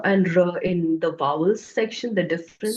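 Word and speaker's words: ऋ: This is the letter is pronounced as R. And in some other regional languages, it's slightly differently pronounced, especially in Maharashtra and Gujarat. They like to pronounce it as Ru. Okay? Regionally, that's fine. Everyone has their own way of pronouncing things in the region. But when you go to pronouncing it in Sanskrit, it's Ri.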